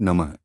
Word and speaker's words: नमः: पर थोड़ा जोर दें नमः अंत में विसर्ग अह के कारण हल्की ह की ध्वनि आनी नमः जप की गति ना तो बहुत तेज भागे और ना ही बहुत धीरे जपे।